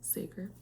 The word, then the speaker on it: Sager: I think that's how you pronounce it. Sager.